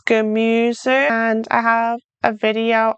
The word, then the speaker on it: Gemüse: Practice pronouncing your German vowels. It's not Gemüse, it's Gemüse.